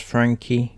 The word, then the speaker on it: Franke: one and only ruby frankie i'm pretty sure it's pronounced frankie could be frank but i'm sure she said it's frankie so we're going with frankie she is the one